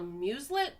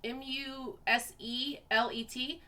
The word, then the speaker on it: muselet: it's called a i don't know if i'm pronouncing it right but it's called a muselet m-u-s-e-l-e-t muselet so in 1844 that was invented to